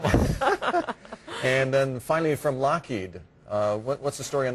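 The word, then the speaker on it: Loughead: case i find one and then finally from lockheed uh what's the story on this one well the lockheed aircraft company is interesting because it's signed by alan lockheed in the way and he was one of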